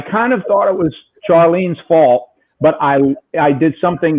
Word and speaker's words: Charlene: And her name had to be pronounced Charlene, even though it was Charlene.